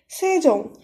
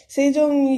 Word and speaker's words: 세종: Be very careful with the pronunciation here because it's a bit complicated. 세종. Sejong, you already know Sejong so King Sejong.